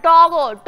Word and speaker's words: টগর: তেরি ডাগর ডাগর আমার নামটা ঠিক করে উচ্চারণ করেন তো আমার নাম ডাগর না টগর গর হ্যা ওইতো